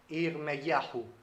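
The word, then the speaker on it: ירמיהו: En hebreo se pronuncia Irmeyahu, Irmeyahu, que significa algo como Adonai se levanta.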